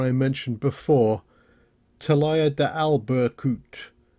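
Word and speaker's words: Albercutx: You can just make out the watchtower I mentioned before, Talaya de Albercut. Turns out you don't pronounce the X at the end, up on the top of that peak.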